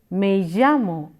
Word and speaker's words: me llamo: a and a and llamo is the Double L if you remember which is pronounced as yak Aurelia and it is said as may-yammo and you say they